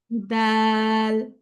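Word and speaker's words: دال: খ তারপর দাল দাল হচ্ছে আপু তা এর মত করে উচ্চারণ হবে তা যেমন হচ্ছে জিহ্বার আগা দুই দাতের গোড়ার সাথে লাগিয়ে উচ্চারণ হয় এরকমই দালটা উচ্চারণ হবে তারপর হচ্ছে জাল হচ্ছে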